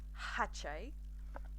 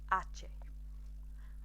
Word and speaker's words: hache: some other Latin-based languages, the H is silent. So in English, we would probably say something like hache. We're not going to do that in Spanish. We don't do that. So we would say ache, ache.